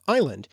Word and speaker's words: island: English in another example the S was added to Island because of the mistaken belief that was connected to the Latin derived word Isle from Latin insula when